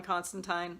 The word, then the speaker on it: Constantine: of my last videos I was giving up on pronouncing it that way because of the TV series they say it the other way but no in this one he actually says rhymes with fine at one point so there you go so maybe we should say the vertigo version is pronounced that way and the newer DC versions prints the TV way I don't know in